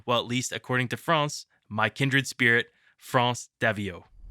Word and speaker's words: France: Please join me in welcoming, well, at least according to France, my kindred spirit, France Daviault.